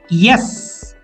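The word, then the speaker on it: est-ce: EST hyphen CE. With the pronunciation yes.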